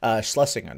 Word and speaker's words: Shlesinger: Shlesinger, there we go. Like, I can't pronounce her name, apparently.